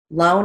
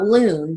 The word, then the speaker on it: loan: repay the loan period loan is a long o l long o final n i see sometimes uh sometimes i'll see students write it with the ao but it's not loon that would be the word loon lone long o and repay